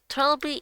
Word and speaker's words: Trelby: TRELBY is how it's pronounced.